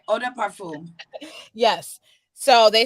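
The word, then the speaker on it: eau de parfum: fluids like the finest ah de parfum if i said that correctly you said it right oda parfum yes so they said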